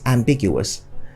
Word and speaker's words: ambiguous: we have here is ambiguous ambiguous just like conspicuous has full syllables so you counted and big you worse fool and not ambiguous okay and finally we're